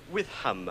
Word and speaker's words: Witham: name is Witham withm yes how do you spell that withm um w h i t h a m with ham with ham well thank you very much for